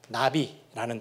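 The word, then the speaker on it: נביא: 보고 선지자라고 합니다 그래서 선지자는 히브리어로 나비라는 단어 이제 단어로 발음이 되어져요 선지자는 하나님의 말씀을 전달하는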